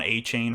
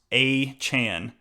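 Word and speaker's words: Achane: is the way he wants people to uh pronounce it now everybody has been saying Devon a chain for a while now but he came out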